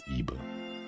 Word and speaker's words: Ib: don't lose it oh so the name is Eve because it's like Eve e-b-e but it's what the Japanese pronunciation so it's IBU instead and so let's call that way all